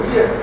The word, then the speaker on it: 间: 以节者有见啊，这个弦念作见啊，见人的见，见习的东西。